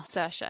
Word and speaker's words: Saoirse: Saoirse. Is that how you say it? Yeah. Saoirse.